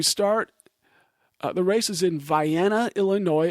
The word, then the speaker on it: Vienna: So you start, the race is in Vienna, Illinois. It looks like Vienna, Austria, but they seem to pronounce it Vienna.